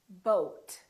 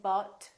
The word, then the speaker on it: boat: O a as in road, boat, soap. So, don't say boat. Say boat.